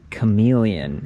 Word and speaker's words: Camillien: This is the iGO Electric Aspire Camillien, and it is not spelled like the lizard.